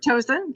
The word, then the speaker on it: Toson: Towson. Did I pronounce that right? Towson, yeah.